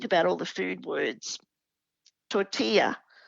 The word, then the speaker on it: tortilla: Tortilla, the double L is the Y sound.